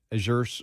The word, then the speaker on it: Azure: there is it uh is it Azure is that how they pronounce it yeah as your uh status report site